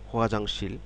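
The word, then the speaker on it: 화장실: হোয়াজাংশীল খোয়া জাংশীল হুয়াজাংশীল হুয়াজাংশীল খেয়াল করুন হুয়াজাংশীল শব্দটি তিন ছিল হুয়া একটি জাং একটি শীল একটি হুয়াজাংশীল হুয়াজাংশল হুয়াজাংশীল শব্দের অর্থ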